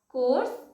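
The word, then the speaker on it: coarse: एंड इन दोनों ही words का pronunciation कोर्स होगा। आई मीन यहाँ पर आर साइलेंट है तो इसे हम कोर्स इस तरीके से कहेंगे।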